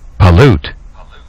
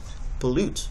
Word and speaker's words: pollute: letting you know that you're going to place emphasis on the second syllable so pollute is the